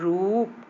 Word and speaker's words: रूप: ऊ की मात्रा रूप, इसमें थोड़ा हम लोग देर तक बोल रहे हैं रूप। और देखिए रुई में जल्दी बोल दिए, छोटे ऊ की मात्रा में जल्दी उच्चारण होता है तो रुई। फिर रूप, है ना, ये